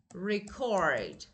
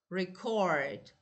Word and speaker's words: record: Now, so for two two syllable nouns, as I told you, stress is on the first syllable. But for verbs, stress stress on the second syllable.